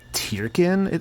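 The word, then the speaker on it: Tirkin: I think I've heard the pronunciation like Tyrkin. It's either Turkin or Tyrkin, but I've heard both pronunciations before. I think even the games will like kind of go back and forth on like the pronunciation of Turkin and Tyrkin.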